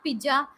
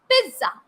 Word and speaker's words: pizza: have got my birthday no it's not pija it is pizza pizza z sound as i told you